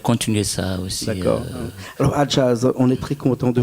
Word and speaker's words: Hajazz: Hein, et quand on dit ton nom, Adjaz, et tu m'as dit tout à l'heure que j'écris Adjaz, H-A, après jazz, ça s'écrit comme du jazz.